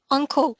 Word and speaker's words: uncle: an uncle so careful some of my students often have a problem with the pronunciation of the two words so the uh the body part is an ankle and your uh well relative is uncle right hope you see the difference ankle Uncle you can repeat actually